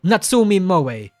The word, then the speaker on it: Natsumi Moe: It's like Natsumi Moe or Rusha or Pumaru. Like, I know how to pronounce their names.